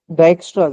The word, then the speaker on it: Dijkstra: DISE इसमें जे कह लो silent है। कुछ इस तरह की इसकी प्रोनाउंसिएशन है।